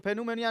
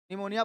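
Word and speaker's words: pneumonia: अच्छा निमोनिया का स्पेलिंग यही होता है। ठीक है? तो फेनोमोनिया नहीं पढ़ेंगे। निमोनिया पढ़ेंगे इसको।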